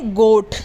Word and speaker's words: goat: हमारा उच्चारण नियम ये कहता है कि जब किसी शब्द में OA आए तो वहाँ पर हम OA को ओ पढ़ते हैं। क्या पढ़ते हैं? ओ। जैसे गोट, GOAT, गोट, तो इसमें OA आ